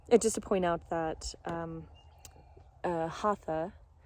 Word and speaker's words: Hatha: And just to point out that Hatha, or Hatha in the Sanskrit pronunciation, means oneness and togetherness.